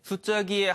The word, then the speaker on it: 수자기: 예 이거 왜 그러냐면 이 글자 자 짜 에는 말에 앞머리 첫머리에 나오지 않는 경우에는 모두 자가 아닌 짝 된소리로 발음하는 법칙이 있기 때문에 어 그래서 수